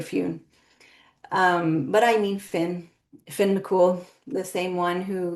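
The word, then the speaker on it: Fionn: and he said that they pronounce Finn as Fune. And so this was many years ago, and I have taken on that pronunciation and it's stuck. And even if I try to say Finn in the story, I will likely just end up going to Fune.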